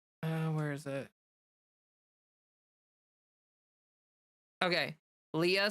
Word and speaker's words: Leah: Leah seems to be the most common pronunciation. Leia is the less common one. It's technically the original Hebrew. And yeah. So Leah is English and Leia is Hebrew.